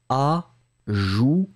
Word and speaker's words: ajouter: Ma prononciation, c'est « ajouter ». D'accord, le A comme un A traditionnel, A, joue, souvenez-vous, hein, O-U, c'est vraiment un OU-OU-OU qui est très très rond, et on finit sur un T, A, joue, T, d'accord.